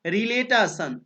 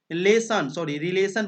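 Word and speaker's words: relation: रिलेटेशन, रिलेटेशन, रिलेशन पढ़ेंगे, यहाँ पर रिलेटेशन नहीं रिलेशन पढ़ते हैं। यहाँ पर टी जो है यहाँ पर आपका एस उच्चारण होगा, स उच्चारण होगा, रिलेशन होगा, टी का यहाँ पर सन होगा, रिलेशन मतलब संबंध।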